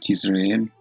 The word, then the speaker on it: Jezreel: Entonces Jezreel en el hebreo, en el diccionario Strong, se pronuncia Jezreel, y dice que Dios sembrará.